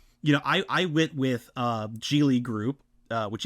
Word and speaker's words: Geely: You know, I went with Geely Group, which it is pronounced Geely, not Keeley, by the way.